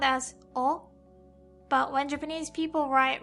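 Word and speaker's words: を: enter her the baby in XXX sound as oh but when Japanese people write romaji they write it as war but it's never pronounced like war it's always hot spot as a particle or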